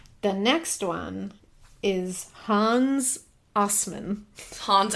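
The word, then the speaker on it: Assmann: The next one is Hans Osman. Hans Assman? It is pronounced Osman, but it is spelled Assman.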